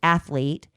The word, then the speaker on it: athlete: But my my my things are athlete cuz there is no uh in there. It's just athlete.